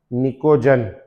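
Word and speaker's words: pnictogen: निकोजंस पी एन आईसीओ P silent है इसमें पी एन आई सी ओ नाम में लिखेंगे पी एन आई सी ओ जी ई एन निकोजन निकोजन ठीक है और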